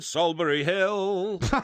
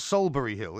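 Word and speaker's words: Solsbury Hill: It's not Salisbury Hill. How do you think it's spelt? It's Salisbury Hill. How's it spelt? It's Solsbury.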